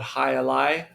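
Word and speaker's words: jai alai: Um and the real playing field for the game called High Ali and it starts with a silent J.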